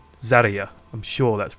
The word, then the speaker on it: Zarya: Which, you know, the emphasis is on the A, not the Zar. Zarya.